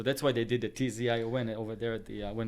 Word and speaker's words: Tzion: Or well, there is a letter in Hebrew, Tzion. It's a tz, like pizza. Tz.